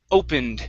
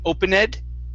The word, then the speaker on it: opened: last word for you is opened instead of open ed it's opened opened good all right